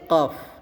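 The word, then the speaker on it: قاف: Jadi tidak dibaca pa tapi dibacanya fa ya. Fa. Nah, huruf selanjutnya adalah huruf qof.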